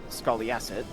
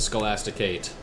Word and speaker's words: Scholasticate: Used to serve as a guardsman over by the Scoliacid. Force of Homage. Carry on. And we'll deal with the Scholasticate eventually. That's how you say it.